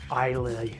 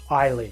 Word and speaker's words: Islay: And no Mean Fiddler would be complete without an Islay Scotch. Sorry, Islay Scotch, or Islay, depending on how you want to pronounce it, of course.